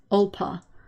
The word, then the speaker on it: Alba: I only learned this week ALBA, Scottish for Scotland, is pronounced Olpa.